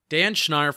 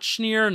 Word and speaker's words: Schneier: with permission and here's dan schneier all right welcome back to the show and now joining us we have dan schneier from the big blue banter podcast not schneer not schneider what's up what's a